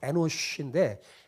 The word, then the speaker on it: 에노쉬: 에노스라는 이름의 뜻은 히브리어로 원래 발음은 정확한 발음은 에노쉬인데 에노시는 사람이라는 뜻이에요.